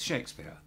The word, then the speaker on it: Shakespeare: We just don't say the R sound. So, it's Shakespeare.